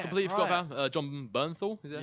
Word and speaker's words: Bernthal: Completely forgot about John Bernthal.